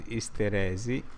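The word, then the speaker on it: isteresi: in Italian is Hysteresi. Hysteresi, ok? Dico meglio, l'accento è così, Hysteresi.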